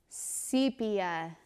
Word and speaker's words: sepia: maybe a little violet it's pronounced with the long e sepia that makes me so sad because i just feel like sepia sounds better don't you think i mean